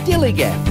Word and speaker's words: DILLIGAF: That's spelled D-I-L-L-I-G-A-F, Dilligaff.